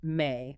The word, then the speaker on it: me: They're pronounced May, by the way.